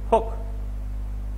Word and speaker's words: folk: folk, f o l k, folk উচ্চারণ folk, এল এর উচ্চারণ হবে না।